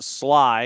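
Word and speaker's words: Schley: Sly is pronounced Sly.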